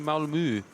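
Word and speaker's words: Malmö: And I'm pretty sure I'm pronouncing Malmo wrong because I I think it's pronounced differently. Malmo. Oh, actually it could be Malmu cuz it's uh it's got a different accent on the O.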